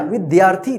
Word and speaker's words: विद्यार्थी: कि आपने लिख लिया विद्यार्थी तो देखिए य पर कैसे लिखा जाएगा विद्यार्थी वि द्या तो दया इस तरह से लिखेगा विद्या थी विद्यार्थी या के बाद आध र का उच्चारण हो रहा है और इसमें बड़ी ई